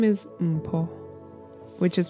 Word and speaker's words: Mpho: i should reintroduce myself so my name is umpo which is pronounced m po it is of sotu origin and means gift